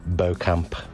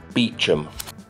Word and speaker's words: Beauchamp: I'm sure this is Beauchamp. Beecham. Beecham? Beecham? What on earth? Either way, we were wrong.